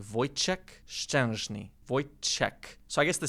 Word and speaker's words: Wojciech Szczęsny: Wojciech Szczęsny. Yeah, that's my goat. Barcelona, baby. Which is the correct pronunciation of your name? Wojciech Szczęsny.